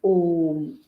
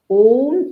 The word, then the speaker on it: Om: um the pronunciation is om many people pronounce it as oh no that is not correct om is the correct pronunciation though it has got three parts a u and M okay now our vas